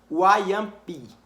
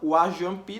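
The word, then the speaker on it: Wajãpi: só que se fala Wayampi, que é um idioma deles. Então, o nome dessa tribo não se fala Wajampi, não, Wayampi, Wayampi, Wayampi. É engraçado, mas é o nome da tribo, Wayampi, certo?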